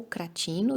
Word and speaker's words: Cratino: Ou Cratino, dependendo da pronúncia em grego antigo, mas sempre de uma maneira elogiosa e respeitosa, né?